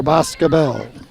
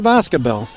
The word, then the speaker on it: Boscobel: position again for Baskerville sort of putting that accent on the last syllable now for some reason for Boscobel first and ten from